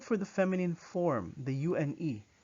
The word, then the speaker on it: une: Now, similar to the one in the feminine form, you circle your lips as if you're about to pronounce an O, but instead you say in, in. So you say une bière, une bière.